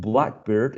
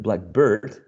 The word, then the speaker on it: blackbird: And this is another case that we talked about, which is compound words, right, in which the meaning changes when you are stressing the first element, and also when you are stressing the second one.